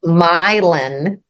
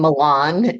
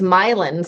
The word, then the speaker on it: Milan: you pronounce it as Milan like it's actually pronounced milin I it so when we were when we were purchasing the property I kept saying Milan and they were like no that's not right